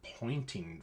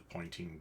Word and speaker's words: Poynting: There is the direction in which the electromagnetic wave propagates is something called the pointing vector. I kid you not, it's the guy's name. It's spelled Poynting.